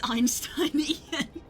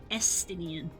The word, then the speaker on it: Estinian: I read it as Einsteinian. Yeah, it's fun to try to read. It's Estinian. is his name.